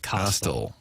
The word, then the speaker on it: costal: Coastal, pronounced like Costco. It is a rib. A lot of medical folks. Yeah, like Costal.